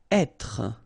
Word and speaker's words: être: Être. Okay, so remember that when you get this accent circumflexe here, you should really pronounce it openly. So, être. Okay, don't insist on the final e.